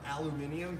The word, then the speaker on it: aluminium: They are made of aluminum or aluminium, depending on how you want to pronounce it.